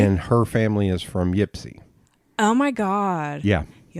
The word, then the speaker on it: Ypsi: And her family is from Ypsi. Oh, my God. Yeah. He also said it wrong. It's Ipsy.